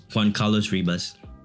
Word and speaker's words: Juan Carlos Ribas: How do you say your name is pronounced again? Juan. J Ribas. Juan. You want the Juan Carlos Ribas.